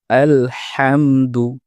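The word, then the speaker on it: الحمد: এই আয়াতে প্রথম শব্দে আলহামদু এ জায়গায় আমরা হাকে হা বলে ফেলি। অনেক সময় আমাদের উচ্চারণটা শোনায় আলহামদু। যেটি সঠিক নয়। সঠিক উচ্চারণ হচ্ছে আলহামদু বড় হা।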